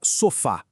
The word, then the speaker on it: sofá: A palavra sofá, a força tá no fá, a última sílaba, então é oxítona e termina com a. Por isso, pela regra, precisa de acento.